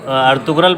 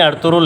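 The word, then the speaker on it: Ertuğrul: जैसे यहाँ पे तो अर्तुगरल पढ़ते हैं ना, अर्तुगरल नहीं अर्थुरुल है।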